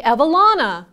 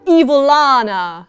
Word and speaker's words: Evalana: minute you must be evalana i'm anna we are look-alikes no we're not and my name is pronounced evil lana oh this is going